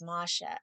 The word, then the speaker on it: Masha: maja's gonna be but maja interestingly her name rhymes with my hebrew name that i chose for myself so my hebrew name is masha m-a-s-h-a so i clearly just love that yeah